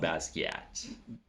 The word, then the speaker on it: Basquiat: Jean-Michel is French, so he'd be like from Haiti, I believe. So it's like Jean-Michel Basquiat.